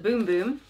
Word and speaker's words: Bum Bum: So the booklet says pronounced boom boom.